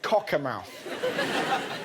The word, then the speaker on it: Cockermouth: northern town of cockermouth that's that's how you pronounce it cockermouth this isn't katie spencer have been over to